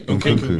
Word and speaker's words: Nkunku: Nkunku.